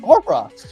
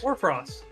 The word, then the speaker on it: Hoarfrost: Horfrost. Warfrost. That's how you pronounce that. Okay. Horfrost. By Not the W.